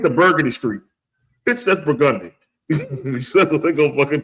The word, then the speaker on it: Burgundy: And if you fucking, you're gonna go, that's Burgundy Street. No, bitch, that's Burgundy. That's what we gonna tell you. So, man, how they get to Burgundy Street? Bitch, that's Burgundy.